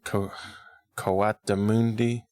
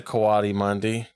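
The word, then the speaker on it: coatimundi: __ ] it called Co kundi we were saying it wrong last time we were saying kundi but that's not how you say it the little pig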